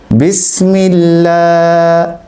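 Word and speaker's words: بسم الله: আমরা পড়েছিলাম আল্লাহ শব্দের লাম হরফের পূর্বে যদি জের হয় তাহলে সেটাকে বারিক করে পড়তে হয়। তাহলে আমাদের উচ্চারণ করতে হবে বিসমিল্লাহ। কেউ যদি বিসমিল্লাহ পর সেক্ষেত্রে ভুল হবে। আমাদেরকে উচ্চারণ করতে হবে বিসমিল্লাহ। পাতলা হবে বারিক হবে।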